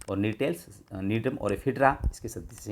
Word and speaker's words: Gnetales: Spelling GNE है, GNETALES, नीटेल्स, जिसमें ephedra और नीटम आते हैं।